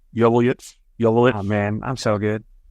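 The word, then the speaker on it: Joveljić: Is it Joveljic? Joveljic.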